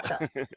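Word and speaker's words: HA:TFELT: it's supposed to be like a British person saying heartfelt. So it's Ah, Hotfelt. heartfelt. Okay, Yeah. Hotfelt.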